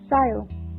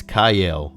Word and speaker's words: Kyle: Sile. Nope. Sile. Nope. Sile. Nope. Sile. Nope. It's Kyle, you assholes.